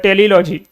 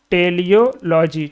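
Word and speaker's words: teleology: उसके बाद टेलीलॉजी, टेलोलॉजी है, टेलियोलॉजी, टेलोलॉजी क्या है? हाँ टेलोलॉजी, यहाँ पर स्पेलिंग मिस्टेक है, टेलियोलॉजी, ठीक है, टेलियोलॉजी होगा।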